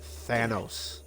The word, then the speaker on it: Thanos: if in case you are listening ricky it's thanos thanos and for street fighter 2 it's sagat